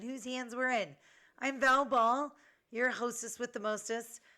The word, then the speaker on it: Val Ball: I'm Val Ball, your hostess with the mostest. Just remember, Val Ball, it rhymes with foul ball because sometimes I'm out of line.